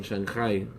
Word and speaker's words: Shanghai: Rabbi Meir Ashkenazi, he was a Rav in Shanghai. That's the Yiddish pronunciation of Shanghai.